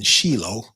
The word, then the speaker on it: Shiloh: The ark, you know, the the ark of the covenant uh originally resided in Sheilo. Okay, that that's actually the the correct pronunciation of the city, not Shiloh, but it's Shilo.